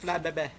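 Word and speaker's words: Flabébé: Flabebe? What? That's how, no, That's that's how it's pronounced. Flabebe.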